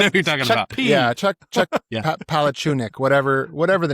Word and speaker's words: Palahniuk: Chuck Palahniuk. What? Whoa. You know what I'm talking about, right? That sounds good. Yeah, I know who you're talking about. Yeah, Chuck Palahniuk, whatever the name is.